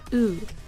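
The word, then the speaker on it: 宇: This kanji is pronounced U and translates to something like world, heavens, or universe.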